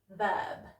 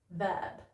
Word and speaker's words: verb: Okay, so we've got very, very, and verb, verb. Okay, so if you notice, my top teeth are actually on my bottom lip when I make that V sound. Very, verb.